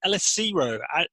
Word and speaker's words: Elesiro: And in this episode, I'm speaking with Collins Elesiro.